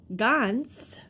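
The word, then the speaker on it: Ganz: they called him Saul, Gans, like the Gans bear, G-A-N-Z. That's the pronunciation anyway.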